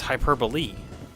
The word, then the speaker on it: hyperbole: So it sounds like that would actually be like the pronunciation, like the correct one, but it's hyperbole. Where is the lee? Like, seriously, where is the lee in that?